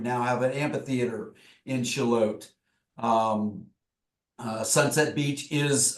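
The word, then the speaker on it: Shallotte: to to go um shalot shalot oat oat oat everybody pronounces it shallot or something else but shalot um is a very very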